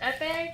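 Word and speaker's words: épée: a EP I'm sorry is it pronounced epe yeah you fight you fight Rapier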